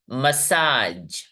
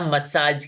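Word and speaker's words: massage: यहां पे यह है मसाज मसाज मसाज यहां पर दो वेबल साउंड सुनाई दे रहे लास्ट वाला ई साइलेंट है हम लोग नहीं बोलते मसाजी मेरे सर का मसाजी कर दो ऐसा नहीं ना बोलते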